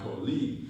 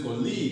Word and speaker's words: colleague: My colleague is my colleague. You're stressing league. When you say colleague, you're stressing league. But it's colleague. She's my colleague. Colleague. So the stress is in call.